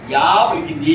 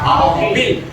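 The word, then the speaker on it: apple: యాపిల్ అని yeah పలికితే yeah పలికింది, మీరు యాపిల్ అన్నారు. యాపిల్ అనకూడదు, ఆపిల్. ఎందుకంటే నువ్వు యా పలికావు అనుకోండి మళ్ళా ఇక్కడికి వెళ్ళిపోతున్నాం యూరోపియన్ లో లాగా, యూకలిప్టస్ లో లాగా. కాబట్టి we have to pronounce it as ఆపిల్.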